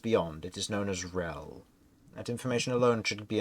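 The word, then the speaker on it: Yryel: keep is just beyond it is known as rel that information alone should be enough to let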